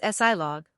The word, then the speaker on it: silog: SILOG is a very umami-packed breakfast from the Philippines, pronounced as SILOG, which is a shortcut for two words.